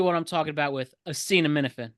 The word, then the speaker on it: acetaminophen: Assassine and Minifin. It's acetaminophen, yep.